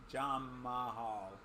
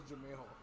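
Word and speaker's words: Jamahal: That's how I thought it was initially pronounced when I first saw his name. I was like, Jamal. But no, it's just Jamal. I thought it was Jamehal.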